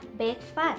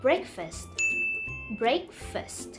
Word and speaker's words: breakfast: ะ ไ ม่ อ่ า น ว่ า breakfast ห รื อ ว่ า breakfast น ะ ค ะ เ ร า จ ะ อ่ า น ว่ า breakfast โ ด ย ที่ เ ร า จ